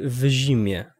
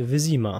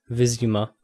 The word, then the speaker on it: Wyzima: Zastanawiam się, dlaczego tutaj wymawiają w zimie. Tutaj nie ma zi, to jest wyzima w sumie. I z tego co pamiętam, już w drugiej części gry i w trzeciej wymawiano to wyzima.